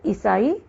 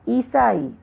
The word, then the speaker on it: ईसाई: वैसे ही अशुद्ध शब्द ईसाई, लेकिन शुद्ध है ईसाई।